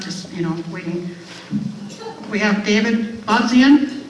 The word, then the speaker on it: Bobzien: We have David Bobzien. Did I pronounce it correctly? Bobzien. Oh, okay, so the E is silent.